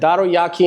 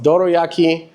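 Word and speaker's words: dorayaki: I said daroyaki instead of doroyaki.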